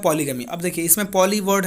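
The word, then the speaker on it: polygamy: चलिए पॉलीजनी, ध्यान रखिए, पॉलीगैमी पॉलीजनी बिल्कुल अलग अलग वर्ड है, एक ही नहीं है। इसका प्रोनाउंसिएशन होता है पॉलीगैमी, और इसका पॉलीजनी जनी, ठीक है।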